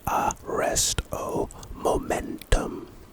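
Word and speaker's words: Arresto Momentum: it looks like on the other side standard pronunciation aresto momentum aresto momentum it's a charm and its purpose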